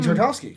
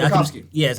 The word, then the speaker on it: Tartakovsky: Gendy Tartakovsky. Exactly. Tartakovsky.